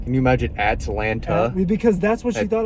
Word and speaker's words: Atlanta: And a lot of people don't know how to say Atlanta. There is no second T.